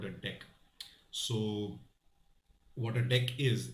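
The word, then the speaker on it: deque: import deck so it's spelled dq but it's pronounced deck so what i'm going to do is simply create a deck and of course even there we need to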